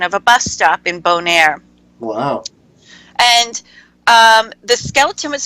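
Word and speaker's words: Bonaire: how do you say that place morning that's bone air yes so so all three of the islands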